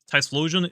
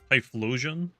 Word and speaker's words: Typhlosion: Typhlosion? Typhlosion. Is there no S in there? Have I just been like adding that for no reason?